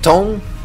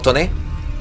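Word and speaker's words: Tone: Vamos con el titán Tom. O Toné. No, creo que está inscrito en inglés. Entonces, si está escrito en inglés, se pronuncia en inglés.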